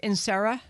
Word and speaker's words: Inserra: And sir, is your last name pronounced Inserra? You got it.